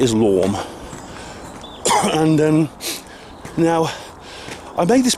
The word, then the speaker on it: Islam: But that dictatorial one world government is Islam, or Islam, as Douglas Murray pronounced it, Islam.